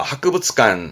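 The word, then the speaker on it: 博物館: 여관 발음은 료간, 료간. 그렇죠. 도서관 다시는 도서관, 도서관. 요건 어떨까요? 그렇죠. 박물관, 박물관입니다. 하크부츠관, 하크부츠관.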